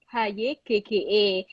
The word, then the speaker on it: Hygge: Tulisannya HYGGE. Tapi kalau orang Denmark bilangnya Hygge.